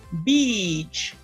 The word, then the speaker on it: beach: The E sound. If you can see my face, E, la cara está súper tensa. Ese es el sonido de E que ustedes tienen que hacer para pronunciar beach, ¿ok? Tienen que tensar la cara y hacer una I un poquito más larga, ¿ok? Beach. I went to the beach. And that's the right way to pronounce that word, okay?